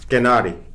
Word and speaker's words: kennari: Well, I think the easiest thing that you can remember is that the accent will always be on the first syllable, no matter what word it is.